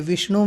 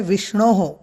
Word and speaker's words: विष्णोः: देखिए विष्णु में एक गुण संधि हुई है, तो यहाँ पर हो गया है विष्णोः। विष्णु तो है, बाद में जो विसर्ग है उसका भी उच्चारण सही प्रकार से होना चाहिए, तो विष्णोः।